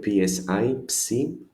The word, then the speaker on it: psi: Sounds, as you see it here, psi, psi, as in the word tipsy, for example.